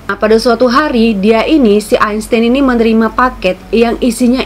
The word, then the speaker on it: Einstein: Kalau Albert Einstein ya, pelafalan Jermannya ya kan, Einstein.